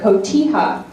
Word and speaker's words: cotija: It's called cotija cheese.